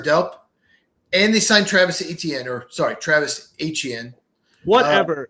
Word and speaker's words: Etienne: His name is Yes, Etienne.